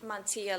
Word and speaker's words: Mantilla: Well, I think it's a great appointment, and I'd like to make the motion to appoint Montilla? How do you say the right? Mantilla, like tortilla.